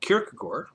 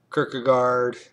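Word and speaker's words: Kierkegaard: his name is pronounced kagor correctly uh but often people say kirkgard or many different variations of the name I just call him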